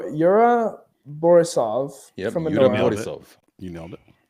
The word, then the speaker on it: Yura Borisov: not entirely sure I'm not entirely sure to pronounce this this this uh this actor's name but y Yura borisov from borisov you nailed it uh Kieran cin